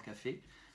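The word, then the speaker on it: кафе: Donc pour dire le café, l'établissement où on prend le café, ça sera café. K, A, F, Y. Et c'est le Y qui est accentué. Changement d'accent.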